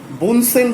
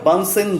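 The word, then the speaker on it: Bunsen: আর নিচে যে অংশটি আছে সেটাকে বলা হয়েছে কি, বুনসেন বার্নার, বা ভালোভাবে যদি আমরা উচ্চারণ করি তাহলে সেটা হয় বানসেন বার্নার, কিন্তু আমরা ম্যাক্সিমাম ক্ষেত্রেই উচ্চারণটা করি বুনসেন বার্নার।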